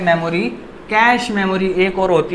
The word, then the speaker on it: cache: देखिए अब कैश memory क्या होती है, CACHE, कैचे मेमोरी भी कुछ लोग कह देते हैं। मेरा एक मित्र था कैचे मेमोरी कहता था, पर इसको कैश मेमोरी बोला जाता है। इसकी जो प्रोनाउंसिएशन है वो कैश मेमोरी है।